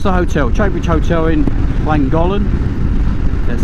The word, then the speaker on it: Llangollen: And yeah, we're off to the hotel, Trowbridge Hotel in Llangollen. That's how you pronounce it.